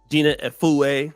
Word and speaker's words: Gina Efue: Okay, let me ask you this, because I just got through doing an interview with Gina Efue. That's how she pronounced her name, which I met through you, African Superstar.